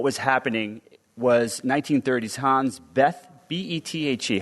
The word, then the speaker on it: Bethe: happening was 1930s Hans Bethe, B-E-T-H-E. How do you pronounce B-E-T-H-E? Bethe? I don't know how to pronounce his last name. Beta. That's how you spell his name.